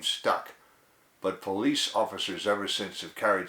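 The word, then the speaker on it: polis: The French coined the word police from the Greek politia, from the word P-O-L-I-S, pronounced police, and it means a city.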